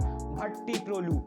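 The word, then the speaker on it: Bhattiprolu: Now, you know what is the biggest takeaway from the Kannada script video is because of this comment, I know that it is pronounced Bhatti Prolu.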